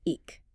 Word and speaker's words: ic: or I k pronounced eek which is I right and thou